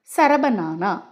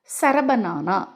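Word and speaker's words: சரபநானா: முறை மட்டும் சரியாக இருக்கணும் சரபானா சரப நானா சரப நானா சரப நானா சரப அப்படின்னு சொல்லும்போது ஆட்டோமேட்டிக்கா உங்க இரண்டு உதடுகளும் மூடும் நானா அப்படின்னு நீங்க சொல்லும்போது உங்க வாய் திறந்து உங்க மூச்சு காத்து வெளியில போகும் இந்த சரப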